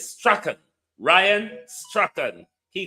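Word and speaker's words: Strachan: He called himself strong. But the pronunciation in British Scottish is Straen.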